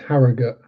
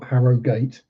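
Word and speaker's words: Harrogate: Yes, it's pronounced Harogut Americans, not Harogate.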